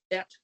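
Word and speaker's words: את: ALEF-TAV, et pronounced, Hashemayim va'et.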